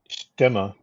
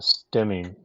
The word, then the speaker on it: Stemme: German but I understand the proper pronunciation of s-te mme germanist stema but I think even the Factory calls the airplane a stemming nowadays and I don't know